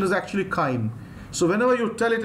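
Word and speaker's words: chyme: I told you remember I used to love pronouncing this as chime. The reason is my spelling will not go wrong. But the actual pronunciation is actually kind.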